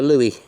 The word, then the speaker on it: louis: a stinking lincoln a something that rhymes with louie phooey it's a louis anyway i don't think